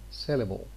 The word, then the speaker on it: syllable: say syllable or syllable the l here tends to be dark and it is at the same time syllabic because it's the most